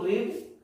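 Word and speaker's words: read: ये तीनों फॉर्म में एक जैसा होता है, first form रीड, second form रेड, third form रेड। Spelling सभी की सेम है पर पढ़ा इसे रीड, रेड जाता है।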